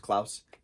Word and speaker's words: Claus: in dutch it's pronounced klaus as most europeans pronounce it as klaus not clause but we as an